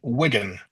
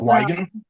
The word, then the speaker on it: Wigan: And number two is C, Wigan. It's not Wen, as I heard a couple of people say.